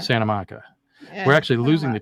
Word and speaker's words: Santa Monica: We don't say Santa Monica. We say Santa Monica. Santa Monica.